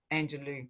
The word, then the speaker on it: Angelou: Angelou, yeah, beautiful.